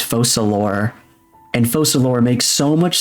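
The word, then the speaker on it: Focalors: used to call it focalor and I'm in hind like wait a minute it's French it's not focalor it's falor and falor makes so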